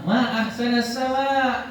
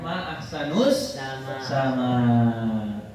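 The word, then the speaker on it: ما أحسنَ السماءَ: Faqala, lalu berkatalah Abul Aswad, quli, nak, bukan kayak gitu cara bacanya, bilang ma ahsanas sama, bukan ma ahsanus sama.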